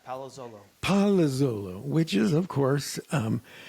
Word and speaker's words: Palazzolo: So, your last name is pronounced, bear with me here, Palazzolo? That's pretty good. Yeah, Palazzolo.